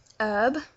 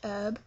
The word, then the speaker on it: herb: say Harry Potter um herb so don't pronounce the h herb uh we do pronounce